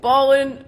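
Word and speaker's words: Ballwin: you interrupted me no you said it wrong uh if you need something come see us 14803 Manchester Road in beautiful ball in Missouri you got the empasis on the wrong salable again anyway we 10 to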